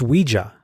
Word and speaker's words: Ouija: of the main characters explains that it's Ouija the pronunciation that it's based on the French and German words for yes we and yah Ouija as he says